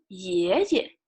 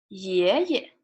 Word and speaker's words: 爷爷: So on your father's side, you say 爷爷, 爷爷, right? And on your father's side, grandma, 奶奶, 奶奶. So if you want to say, Grandpa, I love you, 爷爷, 我爱你, right?